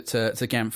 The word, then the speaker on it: GAMFT: This is GAMFT. Remember, the T is silent.